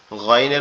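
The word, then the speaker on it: غ: আর গয়নটা কোথা থেকে উচ্চারণ হবে? গয়নটা হচ্ছে আমাদের এই যে কণ্ঠনালীর শেষ অংশ, এমন ভাবে উচ্চারণ হবে মনে হবে আওয়াজটা গালের ভিতর থেকে আসতেছে।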